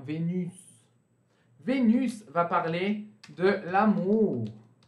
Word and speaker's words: Vénus: Aqui, excepcionalmente, gente, a gente vai pronunciar o S. E vai ficar, então, Vénus.